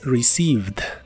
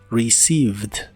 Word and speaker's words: received: recibido en inglés es received no se pronuncia ningún sonido e de esta palabra la primera e se pronuncia como I y las otras dos son mudas se pronuncia receive received y usaremos el verbo